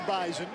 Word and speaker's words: Bison: It is the Bison. The Z is invisible. Get the Z in there. You're exactly right. But it is audible. That's how they say it up in Fargo.